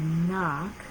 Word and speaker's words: knock: So those who are starting to read can see this word, knock, is spelled K-N-O-C-K, but we don't say that K sound, we just say knock.